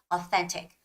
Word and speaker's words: authentic: this passage it's authentic again you got to be careful when you're making the th pronunciation right authentic authentic authentic and whenever you encounter